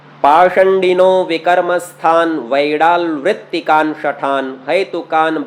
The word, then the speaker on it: पाषंडिनो: थोड़ा सा समझ लीजिए, यहाँ जो ये मूर्धन्य शकार लिखा हुआ है पाषंडिनो, किसी किसी पुस्तक में पाखंडिनो मिल जाएगा। वास्तव में मूर्धन्य शकार का उच्चारण कुछ संप्रदायों में ख ऐसा करके किया जाता है।